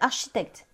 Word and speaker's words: architect: C'est, alors je sais pas si je vais le dire, Stone Spine Architect. Pas mal. pas mal Stone Spine Architects, parce que Architect. en anglais, on ne prononce pas le chi.